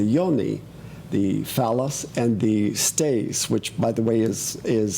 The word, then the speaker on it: cteis: emblem of the lingam, the phallus, and the stais. So here is why in Hinduism and in many other spiritual cultures, they use these symbols for creativity, the lingam and the yoni, the phallus and the stais, which, by the way, is spelled C-T-E-I-S.